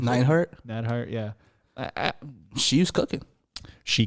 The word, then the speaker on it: Neidhart: We get, I mean, I am not someone who likes Natty Neidhart or however you pronounce it. Neidhart? Neidhart, yeah.